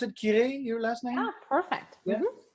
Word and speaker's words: Kirei: much for joining me everybody that's onakire you've pronounced it kirei here last night ah perfect so i mean